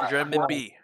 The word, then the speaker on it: renminbi: No, it's pronounced renminbi.